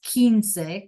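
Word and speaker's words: quince: Five is single, but when we go to the teen, it becomes kins.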